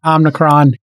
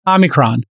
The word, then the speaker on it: omicron: and related to that omnicron is spreading like crazy uh new york city hasn't i'm rick omnicron omicron there is no n omicron omicron omicron yes i'll i'll learn